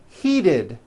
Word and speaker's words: heated: Well, the same thing happens here when the T comes between two vowels. So look at this next word. Heat. The verb to heat becomes heated.